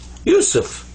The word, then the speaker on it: Yusuf: So it's pronounced you, you. And then sa, there's the three dots, the three stems that are up here like this, without dots, actually. So that's sa, pronounced like a S. And this is fa. This comes up to be Yusuf. Yusuf.